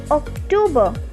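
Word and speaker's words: Oktober: it is pronounced as october that means c replaced with k november is also same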